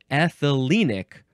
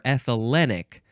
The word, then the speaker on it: ethylenic: ethane or ethane and ethylenic or ethylenic those are adjectives uh